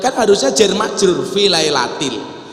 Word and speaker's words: lailatil: inna anzalnahu fi lailatul qadr kan salah yang kan harusnya jar majrur fi lailatil membacanya fi lailatun mertuanya ustaz langsung diingatkan dari